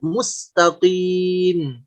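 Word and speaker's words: مستقيم: Seperti qi, bukan qi, qi. Juga bukan ki, ki kalau ini kaf. Tapi qi, qi. Seperti kalimat mustaqim. Mustaqim.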